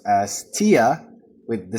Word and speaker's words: Thea: And while I came to realize her name is actually pronounced as Tia with the silent H.